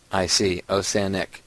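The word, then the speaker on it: Osanic: O-S-A-N-I-C. Osanek. Just like it sounds.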